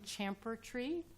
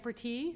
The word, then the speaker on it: champerty: The original, I think, bar on, you'll correct me about the pronunciation, champertry. JOHN GOLDBERG: Champerty. ALEXANDRA LAHAV: Champerty, there you go.